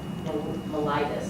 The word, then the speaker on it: mellitus: Diabetes is one of the oldest known diseases, and its official name is called diabetes mellitus. That's how you say it. Mellitus.